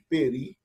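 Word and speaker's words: περί: conta o acento agudo é o caso de peri a palavra paroxítona olha duas sílabas e ela é uma palavra oxítona no sentido da acentuação porque o acento agudo olha está na última sílaba e lembrando que as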